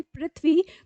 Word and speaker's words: पृथ्वी: लेकिन आपको पता है जब आप बोलते हैं पृथ्वी तो उसमें क्या है ऋ है ठीक है जो हमारा स्वर है वो लगा हुआ है या